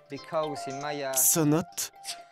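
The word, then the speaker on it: ts'onot: mayas et les espagnols sa note est la vraie prononciation maya à leur arrivée les espagnols chercher de l'eau les mayas leur disait tout le temps sa note que les espagnols ont changé on ces notes parce qu'il n'arrivait pas le prononcer ça signifie puits souterrains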